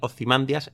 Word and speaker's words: Ozymandias: y estos vocablos antiguos pues venían a ser una A larga seguida de 2 consonantes. Y eso habitualmente se traduce a nuestros días como que esa es la sílaba donde descargaría el golpe de voz. La sílaba digamos, con la tilde, aunque no la haya, y por lo tanto él humildemente piensa y para él Ozymandias está bien dicho.